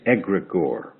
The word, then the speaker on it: egregore: know and it's called it the word is egregore EG r EG o r e and egregore is a consciousness that is created